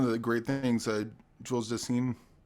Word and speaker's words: Dassin: I think one of the great things Jules Dassin, how do you say the last name?